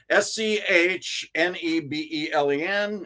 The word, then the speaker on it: Schnebelen: Nick Schneblin. You like how I say that? I actually know how to say his name and smell it, and spell it. It's Nick Schneblin, Schnebelen, and he's got a